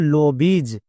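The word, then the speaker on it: lobbies: দেখে আসলাম আইজ হই কিন্তু আরেকটা সাউন্ড হই সেটা হচ্ছে ইজ যেমন লবিজ এখানেও দেখো শব্দের একদম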